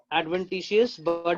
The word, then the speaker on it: adventitious: एडवेंटिशियस बर्ड इसको pronounce करेंगे।